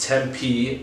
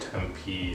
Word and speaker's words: Tempe: uber and i take that uber over to tempe or temp was what i thought it was